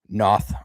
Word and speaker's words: Noth: Noth, I believe is actually how it's pronounced.